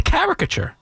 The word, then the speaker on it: caricature: We're gonna debate what the emphasis to put on the syllable here, Paulie? Yes, we are. Caricature. If you survey 100 people, I think the majority would say caricature. I couldn't disagree with you more. Caricature? I've never heard that word.